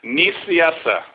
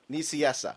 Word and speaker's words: Nicieza: Nicieza. Nicieza.